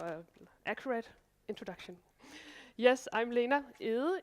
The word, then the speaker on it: Lena Egede: Yes, I'm Lena Egede, if you want it pronounced in the Danish way.